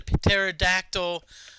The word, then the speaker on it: pterodactyl: me of the joke why can't you hear the pterodactyl um go number one because the p is silent again I that's a